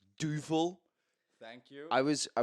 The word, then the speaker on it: Duvel: available at Tesco might I add is a Duval I hear some of y'all pronouncing this as Duvel or whatever it's Duval thank you I was I was once corrected